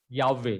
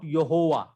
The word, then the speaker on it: Yahweh: So the first syllable of the word is Yah, not Yehovah, not Yehovah.